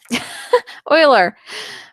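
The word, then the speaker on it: Euler: can be modeled by the Uler number equation. So I just said it wrong again. Oiler. Oiler. Oiler.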